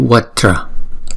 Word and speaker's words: Vajra: Chữ kế tiếp là chữ Vajra. Chữ này gồm có hai âm. Âm đầu là Va và âm thứ nhì là Tra. Tra. Chứ không phải chúng ta đọc là ba âm là Va, Tra, Ra là không đúng.